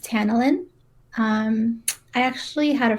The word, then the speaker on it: Tanalyn: you choose this name for yourself um it's pronounced tanalin um i actually had a friend in grade